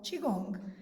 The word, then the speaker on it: qigong: that comes from the very ancient practice of qigong is my pronunciation correct yes which is this and very